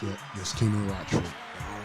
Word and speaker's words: Kinu Rochford: Is it pronounced? Yeah, yes, Kinu Rochford.